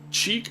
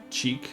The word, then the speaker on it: chic: Cheek. I think it's chic is how you pronounce that.